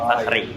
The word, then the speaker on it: Fakhri: I sama E kan sama. I juga kan bacanya Fakhri, di kebanggaanku gitu.